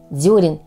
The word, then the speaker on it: дёрен: бы ни был высажен дёрен именно так необходимо произносить это слово Однако многие не знают